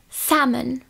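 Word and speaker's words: salmon: vůbec načteme a potom Máme samon samen tam zase nevyslovuj vůbec to l a mám tam otevřené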